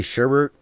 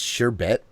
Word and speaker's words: sherbet: I'd like to say sherbet, even though there isn't another R before the last T. It's sherbet.